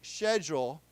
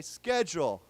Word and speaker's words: schedule: The British say schedule, and the Americans say schedule, okay?